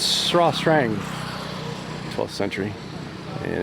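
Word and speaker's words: Srah Srang: It's spelled Sras Strong, but it's Sra Strang.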